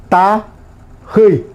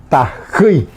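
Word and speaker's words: tahýi: Tají. Tají. Hormiga. T-A-J. Cuando decimos como se pronuncia la J, se escribe con H.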